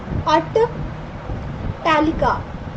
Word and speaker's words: अट्टालिका: तो देखिए यदि हम लिखें ना इसको, तो इसका सही उच्चारण क्या होगा, अट्टालिका, यानी कि आपका सही